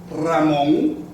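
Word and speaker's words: Ramón: But if the single R is at the beginning of a word, as in the word Ramon, it becomes double when you pronounce it. You say Ramon, not Ramon, Ramon. So the letters in the initial position, it sounds double.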